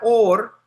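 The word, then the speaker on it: אור: Se pronuncian igual, or, pero or con aleph es luz y or con ayin es piel.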